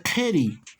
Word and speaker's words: kiri: Se escribe kiri, pero se pronuncia keri.